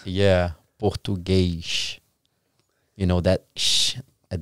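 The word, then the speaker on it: Português: you guys's native language portuges Portugues Portuguese that's how you say Portugues Portuguese yeah in real we kind of exchange the S to X so that's the only city only state that's how you guys you pronounce the S as a x yeah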